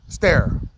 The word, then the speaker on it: Sterre: It's pronounced Sterre, like a S-T-A-R-E, Sterre.